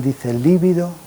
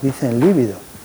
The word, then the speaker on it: libido: disminución de la vida si alguien dice libido Será castigado duramente porque el líbido es palidez se escribe con v libido es el deseo sexual es que eso los mismos psiquiatras dicen libido y no es libido es libido con b de burro entonces disminución del alivido